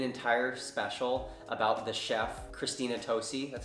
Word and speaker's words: Christina Tosi: they did an entire special about the chef, Christina Tosi, that's how you say her name, who is